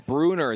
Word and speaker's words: Bruner: We've been saying his name wrong. I apologize. The way it looks like on the score sheet looks like Brunts. It's Bruner that has been going crazy for Tulsa East Central with 34 points.